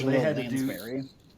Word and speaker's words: Lansbury: Angela Lasbury, I kind of forget how you say her name. She was really tall too, so Angela they had to do Lansbury. Lansbury.